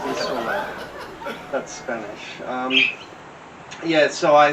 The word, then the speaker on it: Isola: Isola dell'Alba, the Alba Island where Napoleon Bonaparte was exiled for the remainder of his life. It's not pronounced Alba, it's Alba, okay? And it's not pronounced Isla, it's pronounced Isola.